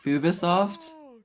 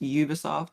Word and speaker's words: Ubisoft: pronounce their name, and the French way is Ubisoft, and then the regular way is just Ubisoft.